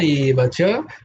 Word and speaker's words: এব চ: তো তাই জন্য বয়ের উচ্চারণ শুনতে তো বয়ের মতোই লাগবে, কিন্তু ঠোঁট দুটো এক হবে না।